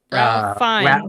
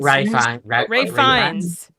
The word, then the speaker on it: Ralph Fiennes: Ralph Fiennes. Ray Fiennes.